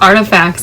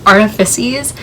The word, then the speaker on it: Artifices: the dark artifices also i didn't know i was pronouncing that wrong this whole entire time i used to say dark artifacts it's the dark artifices i think that's another